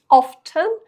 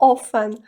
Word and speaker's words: often: Наступний прислівник - це в нас often або often. Маємо дві вимови цього слова, тому обирайте, яка для вас звучить найкраще і використовуйте, коли ви хочете сказати слово часто в англійській мові.